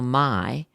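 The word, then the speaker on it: May: one German author Carl Mai spelled m-a-y but pronounced my began writing exciting cowboy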